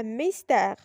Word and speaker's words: mystère: Exemple, cycliste, un mystère. Si vous remarquez dans ces deux mots, la lettre Y est prononcée comme un I.